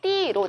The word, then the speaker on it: 띄엄띄엄: 물론 소리는 발음은 띠로 나죠.